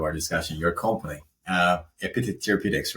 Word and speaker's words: EpiTET: important part of our discussion your company uh epit theraputics right am I pronouncing correctly yes yeah um so tell me